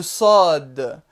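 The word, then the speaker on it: ص: Le sod. Le sod, cette lettre-là, est le S emphatique, c'est-à-dire le S prononcé de façon grave.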